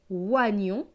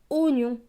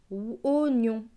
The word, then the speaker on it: oignon: Donc ce mot va se lire, alors là c'est un mot spécial, il ne va pas se lire oignon, il va se lire oignon, c'est une exception. Donc là le oie va se lire o, oignon.